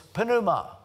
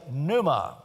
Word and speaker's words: pneuma: of June next pneumatology you don't pronounce the p p Neu but the funny thing is in the Greek you do it's panuma the word for spirit